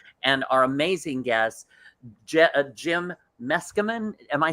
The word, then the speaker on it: Meskimen: our amazing guests jim meskerman am i saying that correctly you are very good eskimo yeah you just take a run and leave that let's come in it rhymes with mescaline that's how i i